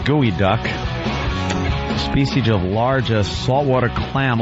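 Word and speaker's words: geoduck: Pronounced gooey duck.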